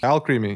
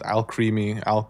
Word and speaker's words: Alcremie: Yeah, Alcremie. I hate that. That's her name. I didn't even notice that till like a few days later. Somebody pronounced it as alchemy.